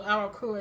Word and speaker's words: Aeracura: The name of Arakura is spelled Aeracura. Aeracura. Arakura.